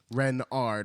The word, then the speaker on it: Renard: is King Renard ivth Renard with the accent on the Ren and then Renard Renard